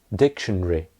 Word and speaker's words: dictionary: In British English, in normal speech, that's only 3 syllables.